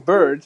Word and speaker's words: Bird: article Jay Wilson on Mac yak and Michael bird it is pronounced bird by the way why didn't Apple